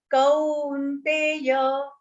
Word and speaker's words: Kaunteya: So when you say kau here, there is a one line matra after ka and then two matras on top. So that will be pronounced. Two swars are used in that, a and u. Kaunteya, u. So if you remember that, kaunteya will not. Don't say kaunteya because that will have only one matra.